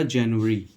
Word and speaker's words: January: तो यहाँ पे सबसे ही पहला वर्ड आता है हमारा जनवरी, जनवरी, ठीक है। JANUARY, इसका प्रोनाउंसिएशन आप जनवरी करते हो, जनवरी, जनवरी बोलते हैं हिंदी में।